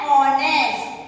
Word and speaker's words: honest: pronounce it as a honest. So it sounds like a vowel. So but starting with a consonant. So what we have to write here? And honest.